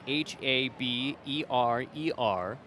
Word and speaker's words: Haberer: Haber, number 44, spells his name Haberer, but pronounced Haber.